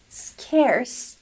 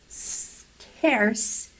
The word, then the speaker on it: scarce: the next one scarce scarce to pronounce it correctly just go straight to the S sound like a snake you know scarce scarce yes scarce means